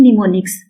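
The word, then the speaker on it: mnemonics: ये am silent हो जाएगा, इसकी प्रोनाउंसिएशन होगी निमोनिक्स, तो इसको क्या बोलते हैं, निमोनिक्स।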